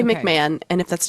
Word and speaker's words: McMahon: June 6 1982 uh there's a man named MC Mahone and that's probably not how you say it but that's how I'm saying I think it's McMahon McMahon how the I I